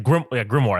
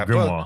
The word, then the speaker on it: grimoire: The grimoire, that's what it's called.